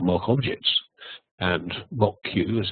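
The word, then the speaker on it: Moq: a better way it's called mock objects and mock Q as it's pronounced is the one that's current in net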